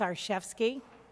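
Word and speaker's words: Arciszewski: good evening good evening my name is our chefs key do I need to spell it certainly a our CIS ze w sk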